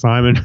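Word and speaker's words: CIMON: As intriguing as identical space siblings and turbocharged space coffee may be, it's the German robot named Simon, with a C, pronounced Simon.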